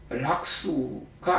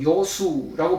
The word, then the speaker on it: 요수: 지자 락수가 아니고 요수라고 발음합니다. 즐거울 요, 즐길 요, 즐거울 락 이렇게 되니까요.